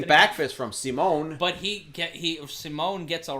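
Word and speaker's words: Simón: And pardon me, it's not pronounced like Paul Simon. It's pronounced like Simone. Simone.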